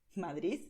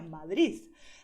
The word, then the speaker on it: Madrid: Si pronuncias la D final como D, estás pronunciando bien, no hay ningún problema, es lo que te aconsejo.